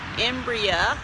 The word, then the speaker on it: Embraer: and the crj 175 the embryo embryo is actually the right pronunciation 140 has 4544 seats